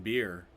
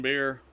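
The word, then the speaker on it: Bier: It's called No I in Beer. Actually, if you spell it the way they do in Germany, it's B-I-E-R. In German, I think it's beer.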